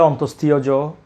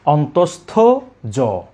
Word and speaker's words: অন্তস্থ জ: এটাকে অনেকে বলে অন্তস্থীয় জ, অন্তস্থীয়। এই উচ্চারণটা করে থাকেন সম্পূর্ণ ভুল। আমরা বলবো অন্তস্থ জ।